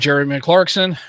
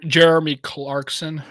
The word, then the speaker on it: Jeremy Clarkson: because Americans are dumb according to Jeremy MC Clarkson Americans are stupid yeah M clar yeah from the yeah the guy from uh I guess the guy from Top Gear or whatever she called him MC clarson no I said Jer Jeremy Clarkson yeah say Jerry M Clarkson probably all of a